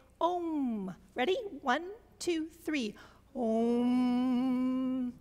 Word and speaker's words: om: The first syllable of the Sanskritic alphabet is ah. And the last syllable is mm. So, let's try this together since you're responsive. Everybody, together, let us say om.